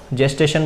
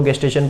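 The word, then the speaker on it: gestation: कि गेस्टेशन period of, जेस्टेशन बोलो गेस्टेशन बोलो, अपना अपना प्रोनाउंसिएशन है, बस याद रहना चाहिए।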